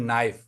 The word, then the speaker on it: knife: Just like in English, we have some letters, just like a word knife, है ना. But we used to spell that knife KNIFE. But the sound of K is silent.